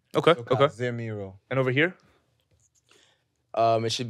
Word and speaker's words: Casemiro: Casemiro.